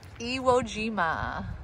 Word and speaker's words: Iwo Jima: Iwo Jima.